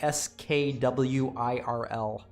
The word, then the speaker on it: squirrel: Yeah, we pronounce it like SKWIRL. Yeah, even squirrel. Without the I almost, it's squirrel.